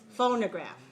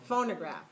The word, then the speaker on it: phonograph: the word phonograph remember which syllable is weak which syllable has a reduced vowel phonograph second okay so we don't want to say no we won't say no no okay look at your lips okay make sure your second syllable is reduced phonograph look at your